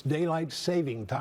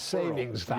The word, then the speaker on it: daylight saving time: It's daylight saving time, yes, it's not savings time.